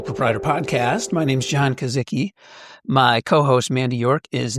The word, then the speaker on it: Kozicki: I'm doing great, John, and I'm glad to finally get a clear pronunciation of your last name, Kasica.